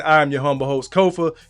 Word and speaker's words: Kofa: Once again, I am your humble host, Kofa. Ko F A, not coffee, not Kufu, not Kofi, or any variation thereof. Kofa rhymes with sofa.